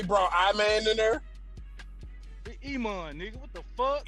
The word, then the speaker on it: Iman: The Iman, nigga. What the fuck? I know how to pronounce his name. Yeah, I-Man.